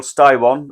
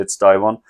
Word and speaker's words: Styron: Now, he's called General Styron or Stron depending you want to pronounce it, but I would say Styron.